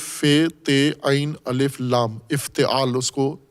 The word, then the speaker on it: افتعال: افتعال۔ افتعال، الف فے تے عین الف لام، افتعال، اس کو تلفظ، سانچے کا نام ہے افتعال۔ اس میں